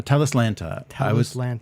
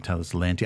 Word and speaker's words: Talislanta: all right so what is the correct correct pronunciation uh telus lanta i was putting an eye in the abs putting two eyes and so i was saying tell this lantern i think because i transcribed a an i